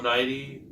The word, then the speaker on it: Nighy: Bill Nighy, that's how you say his name.